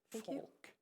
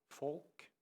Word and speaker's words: Faulk: pronounce the band name i think you did it correct fork it's based on folk folk music fork very easy but it's thank you